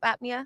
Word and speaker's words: apnea: Is that how you say it? Sleep apnea? Yeah, that's correct.